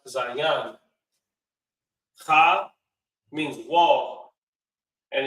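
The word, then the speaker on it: zayin: Za represents the weapon, and it's pronounced zayan.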